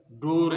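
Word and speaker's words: door: है किसी वर्ड के लास्ट में अगर ये आए इसको इसका उच्चारण नहीं होता तो आप इसको जान जाइए जैसे कार है ठीक है अ फोर है डोर है इस इसमें उच्चारण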